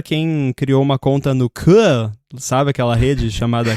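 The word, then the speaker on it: Koo: Muito bem, eu tô também no @inside, e também pra quem criou uma conta no K, sabe aquela rede chamada K? Tem que pronunciar assim.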